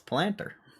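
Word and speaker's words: Palantir: Pull on the pronunciation of planter. It's planter.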